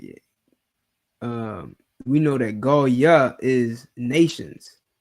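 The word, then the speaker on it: גוים: So you don't pronounce this word as Goy. Why? There are no O sounds.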